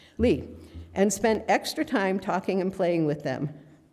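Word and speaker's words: Leaphe: Lee? Oh, because it's L-E-A-P-H-E. Lee.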